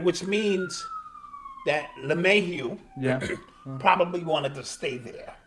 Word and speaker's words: LeMahieu: Yeah, Lemieux. 6 years. Did I say his name wrong? Yeah, DJ Lemahieu. Oh, Lemahieu. Okay.